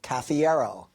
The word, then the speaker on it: Cafiero: your last name again you can remember how to properly pronounce My Name by making a combination of caffeine and Aerosmith caffiero those are two of